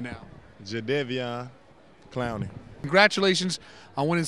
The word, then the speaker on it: Jadeveon: so go ahead and say it right now jedevian clowning congratulations i won in south carolina's mr